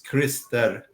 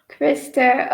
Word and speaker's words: Christer: But the correct pronunciation is Christer. Krister.